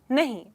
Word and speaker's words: know: यहाँ पे अगर आप देखेंगे तो इसकी स्पेलिंग में K और W दोनों ही हैं, लेकिन ये दोनों लेटर्स साइलेंट है। इसका मतलब ये है कि ये लेटर्स का उच्चारण या प्रोनाउंसिएशन हम नहीं करते, हम इसे सिर्फ ऐसे ही कहते हैं नो।